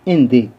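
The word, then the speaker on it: Allende: यहाँ पर देख सकते हैं चिली के प्रेसिडेंट साल्वादोर एंदे, प्रोनाउंसिएशन क्या करेंगे, एंदे, वो एक स्पीच देते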